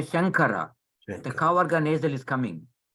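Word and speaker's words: शङ्कर: when you pronounce it, this nasal is pronounced as a Kavarga nasal. Shankara. You don't say Shamkara. You say Shankara.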